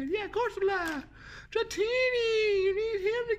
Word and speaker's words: Corsola: Corsola. That's how you say it. Yeah, Corsola.